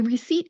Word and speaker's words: receipt: Let's break it down into the syllables so you can pronounce it. The first part we're going to do is the first syllable, re, re. We're going to keep that R and E sound, re. Now the second syllable is where it gets tricky. Don't really look at the spelling because if you look at the spelling, there is a P there. We're not going to pronounce that.